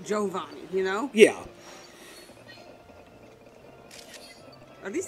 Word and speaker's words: Giovanni: like a generation like it's supposed to be pronounced jovani you know yeah are